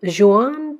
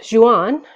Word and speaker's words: Jehane: Madame Jehane Benoit is how you would say it. So Jehane, you don't pronounce the H is silent.